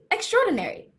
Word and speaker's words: extraordinary: word of the day see extraordinary it has five syllables extraordinary well what does